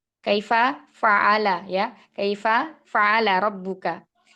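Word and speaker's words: كَيْفَ فَعَلَ: Seperti contoh dalam Al-Qur'an itu alam taro kaifafa. Kaifa fa'ala ya. Kaifa fa'ala rabbuka. Nah, biasanya kita membacanya itu alam taro kaifafa. Padahal fa yang kedua itu adalah milik dari kata fa'ala.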